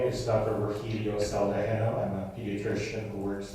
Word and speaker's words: Saldajeno: And it's pronounced Dr. Saldajeno, is that correct, sir?